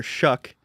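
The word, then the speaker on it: Shough: today that he wouldn't be surprised if Tyler Shuck is his name. Crazy pronunciation, but if Tyler Shuck went actually went ahead of Shador Sanders.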